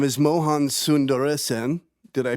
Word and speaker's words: Mohan Sundaresan: His name is Mohan Sundaresan. Did I pronounce that correctly?